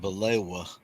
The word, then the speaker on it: baklava: Willie, we pronounce it balewa. And but when we go in the restaurant, it's still spelled out baklava.